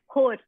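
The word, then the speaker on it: ਹੋਰ: But they will just say the word whore. Huh? Hort. Whore? Like a whore? Whore. Whore. Whore. It just means what's up. It's H-O-R. So it sounds like the word whore.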